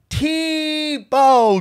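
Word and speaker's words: TBô: future of all clothing production okay tebow is pronounced t bow just like jason tebow okay if you love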